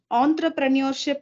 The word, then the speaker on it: entrepreneurship: ஸோ இட் இஸ் நாட் என்டர்பிரினியர்ஷிப் because the spelling doesn't say ENTER, இட் இஸ் ENTRE, entrepreneurship. ஸோ இட் இஸ் entrepreneurship.